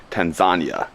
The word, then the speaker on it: Tanzania: Good morning from Tanzania, Africa, or as locals say, Tanzania.